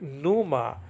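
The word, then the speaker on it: pneuma: Holy Spirit tap Numa some people say us say Numa barnhouse used to just pronounce the the new and not the not the p and he was a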